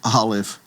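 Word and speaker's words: aleph: to Z, but from Olive to Tab. So, the first letter of course is the letter called olive and olive you should know is a silent letter.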